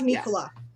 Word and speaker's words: Nicola: are by the way is it uh nicola or nicola it rhymes with the cough drop okay i love nicola that is the uh